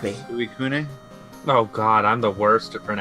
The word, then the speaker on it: Suicune: Suicune? Oh god, I'm the worst at pronouncing Pokemon names. Ask Lucas. It's sweet. It's abysmal. Yeah, so assuming it uses the Japanese pronunciation, it's Suicune.